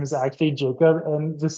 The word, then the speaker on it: Jakob: K in his name it's got to be pronounced like yakob there's no way it's just Jacob so it's just like what if all along this poor man's name is actually Jacob and just like his